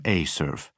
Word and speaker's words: ACERF: Evers pronounced the facility acronym Acurf.